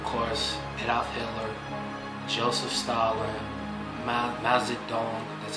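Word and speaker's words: Mao Zedong: Joseph Stalin, Mazadong, that's how you say his name, Mazadong, Pol Pot, and what's another famous example?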